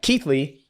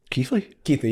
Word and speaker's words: Keighley: And this place, Keighley? Keighley, yeah. You spell it nothing like that, and I know.